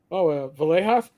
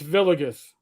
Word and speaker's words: Villegas: I went, I would try to go, Villejas? No, Sarge, it's Villegas.